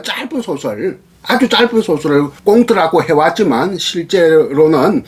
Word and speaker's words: 콩트: 표기는 콩트라고 하고 발음은 꽁트 이렇게 이야기하는데, 또 그리고 요즘은 신문에도 짧은 소설들이 많이 발표되거든요.